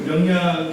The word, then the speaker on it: 명량: 명량, 발음이 경상도 사람이 명량 잘 안 됩니다. 저는 극장 가기 전까지 명랑인 줄 알았어요. 가보니까 명량이더라고요. 깜짝 놀랐습니다. 제가 포스터를 보여드렸는데 보시면 그 명량 포스터 보면 그 이순신 이야기를 영화로 만든 거죠.